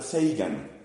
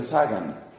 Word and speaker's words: Sagan: mi opinión tristemente ateo Carl seigan muchos pronuncian sagan Carl sean hizo una